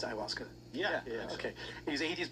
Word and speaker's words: ayahuasca: He was atheist before he did it, and is that how you pronounce ayahuasca?